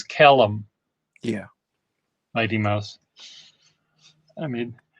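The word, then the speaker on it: Kalum: it is right side up so your name is spelled c-a-l-e-b c-k-a-l-u-n k-a-l-u-m caleb okay someone i thought someone said caleb so okay calum c-k-a-l-u-m so nuisance name ah i said it's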